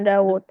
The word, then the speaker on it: داود: Aha, Dawud. Fiha harfun yuntak wala yuktab. يكتب Liana nahnu nuntik Dawud. Ya enggak? Pakai mat kan? Dawud. Cuma dalam penulisannya wawunya satu aja.